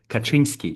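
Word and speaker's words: Kaczyński: in Polish we'd say his name is Ted Kaczynski just like the the president of Poland and his brother is his president and his brother.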